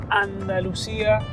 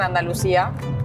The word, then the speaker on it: Andalucía: Por ejemplo, acá no te dicen Andalucía, porque si no como que suena a S, sino sería Andalucía. Andalucía.